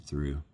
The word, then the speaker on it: Thoreau: It's wild, but everyone pronounced it Thoreau. And I'm like, poetry. Living in a cabin there that Kurt Vonnegut's dad designed. I couldn't believe it. Like, I'm at this weird literary confluence. And I kind of love that the locals around Thoreau have changed the pronunciation, you know.